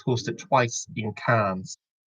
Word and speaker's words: Cannes: It's hosted twice in Cannes. It's not Cannes, it's Cannes. The Cannes Film Festival, yeah. The Cannes Festival. Why am I pronouncing the S?